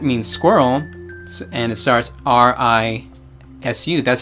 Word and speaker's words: risu: squirrel, and it starts R-I-S-U. That's how you spell it, R-I-S-U. So it's risu, risu. So you just flick your tongue, and that's the R-L combo sound.